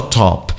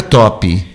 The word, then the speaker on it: top: E o top, final é só top, nunca top. Cuidado com isso, isso estraga a sua pronúncia e dificulta a compreensão.